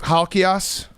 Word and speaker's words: Halkias: you believe in yourself halkias really good actually pretty close actually that's how it the ass is a real greek pronunciation most people butcher it you nailed it okay